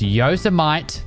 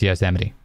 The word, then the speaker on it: Yosemite: It's Yos with an E and then Mite, M-I-T-E. That's Yosemite. Every time, that's what my brain tells me, and then I remember it's Yosemite.